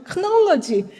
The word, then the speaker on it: knowledge: 그다음에 이제 나스티시즘의 그노시스라는 말 자체는 우리 knowledge잖아요. 크놀러지, 크가 묵음이죠.